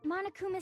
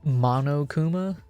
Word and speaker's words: Monokuma: Like, like I'm hearing some of them say Monokuma. No, it's Monokuma. Monokuma is not hard to pronounce.